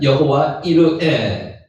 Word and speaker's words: 여호와 이레: 여호와 이레는 여호와, 실제로 읽을 때는 이르에라고 읽는 게 정확한 발음입니다. 여호와 이르에.